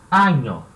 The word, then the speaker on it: año: Se diz el año. Então, ano em espanhol, año, tá? E ano bissexto? Como é que eu digo ano bissexto em espanhol? É año, né, de ano, e bissexto.